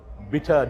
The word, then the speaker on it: Bitar: Bitar did the bit for St. Benedict's. Uh that's the correct way to say.